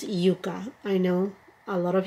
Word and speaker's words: Yuka: her new Yucca palette in Spanish is Yuka I know a lot of you may pronounce it yaka but the name is